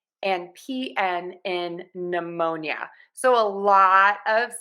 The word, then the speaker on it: pneumonia: of silent letters here k-n-g-n and p n at the beginning of a word are always going to have assignment letter and we're just going to say that n so k-n-n knife GNN